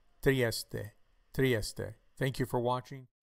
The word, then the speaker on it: Trieste: people pronounce this as triest the E is pronounced on the final letter this is Trieste Trieste Trieste thank you for